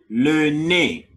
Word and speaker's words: nez: Le nez. The Z is silent.